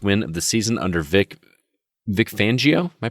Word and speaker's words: Vic Fangio: I'm sure that the Denver Broncos will be starving for their first win of the season under Vic Fangio. Am I pronouncing that correctly?